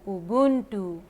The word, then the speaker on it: Ubuntu: Let me tell you right now also, it's double O U B double O N T double O, Ubuntu.